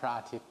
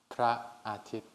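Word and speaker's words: พระอาทิตย์: I'm from Thailand, we call Praatit. 3 syllables, Praatit.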